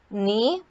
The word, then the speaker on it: knee: silent here then it's knife knee both of these have silent case finally it's comb the